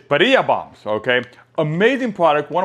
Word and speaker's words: birria: It says the word birria, which is B-I-R-R-I-A, okay, is pronounced birria. Or in Spanish, it says birria. So you got to roll the R because it says birria.